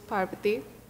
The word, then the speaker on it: Parvati: Pavathi. So, who are you and why are you here? First of all, my name is Parvati. I'm probably not going to pronounce that. Pavathi. Pavathi. Par with 15 R's.